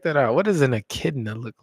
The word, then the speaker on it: echidna: What does an echidna look like?